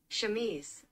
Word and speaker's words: Chemise: Chemise? Chemise.